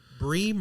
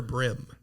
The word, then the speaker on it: bream: We know what you're talking about if you say either one, but Bream or brim? it's definitely brim. Definitely brim.